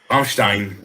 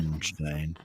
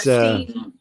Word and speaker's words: Rammstein: Well, now I know for sure how to say their name. Rammstein. Yeah. Rammstein. It's not Steen.